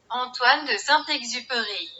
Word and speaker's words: Antoine de Saint-Exupéry: autor, Antoine de Saint-Exupéry, que, según Google, se pronuncia Antoine de Saint-Exupéry.